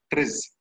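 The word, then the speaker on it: TRIZ: innovation happens there is a tool called uh tris it is it is spelled t r i z it's it's a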